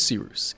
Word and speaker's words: Cyrus: My name is Cyrus. It’s spelled like “Cyrus,” pronounced like “See Rooster,” just take out the “ter.”